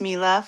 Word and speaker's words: Milah: Uh, so just a little introduction, my name, um, it's Mila. It's pronounced Mila.